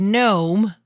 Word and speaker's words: GNOME: and a head good gnome but with the G and I'm gonna pronounce it the Croatian way which is you know Maya's using Ubuntu with the kinome and I wanted to